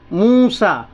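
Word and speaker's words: موسى: मूसा क्या लिखा मिलेगा मूसा तो ये देखें यहां ये जो य लिखा है ना यह साइलेंट तो फिर क्या पढ़ने का तरीका तो आप देखें पढ़ने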